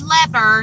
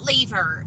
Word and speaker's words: lever: this discussion yesterday and it is lever not leave her Labor's what you do